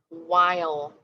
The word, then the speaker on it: while: the end but it has a silent h that w h um digraph makes that h silent so we're saying while we have that e at the end that makes the